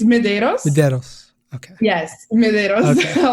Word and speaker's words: Medeiros: hi thank you for having me um it's mederos MOS okay yes medos a lot of people